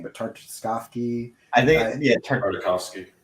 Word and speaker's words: Tartakovsky: And Cartoon Network was releasing, I can never pronounce this guy's name, but Tartakovsky. I think Tartakovsky. Tartakovsky.